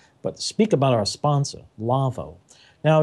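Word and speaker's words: Lawo: speak about our sponsor lavoo now it's spelled l a wo it's a German company its pronunciation is lavoo that's the way it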